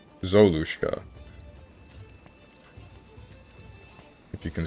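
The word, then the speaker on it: Золушка: For me it's pronounced as... Zalushka? Zolushka.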